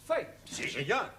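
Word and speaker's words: fête: the rule for example f e t e is also pronounced fate one right one our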